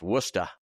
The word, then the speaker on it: Worcester: And if you're from Massachusetts, it's pronounced Worcester.